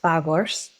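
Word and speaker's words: Phagos: We have beech, representing PH in the alphabet, pronounced Fagors.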